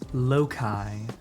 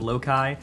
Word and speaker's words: loci: And yes, I am going to be using the what I believe to be proper British pronunciation of loci, because it's the plural of locus. And I think calling it loci is dumb, Americans.